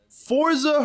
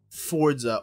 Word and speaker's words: Forza: Forza Horizon 4. Fuck yes. I love Forza, or Forza. There's no T.